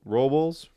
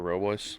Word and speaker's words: Robles: last name Rob Ro Robels Robles. How do you however you pronounce it? Victor Robles.